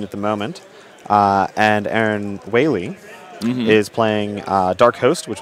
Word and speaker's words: Wale: It does look on the screen, W-A-L-E, I like whale, but it's pronounced Whaley.